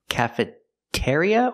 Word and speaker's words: cafeteria: in the cafeteria section cafeteria or cafeteria we use the second one ear ear like beer and here and near cafer cafeteria it's a stress syllable cafeteria not cafeteria so when